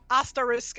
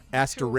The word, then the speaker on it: Asterix: Then they call each other asterisk and obelisk. I see. Okay. Asterix. Because they hate it when when people mispronounce their names.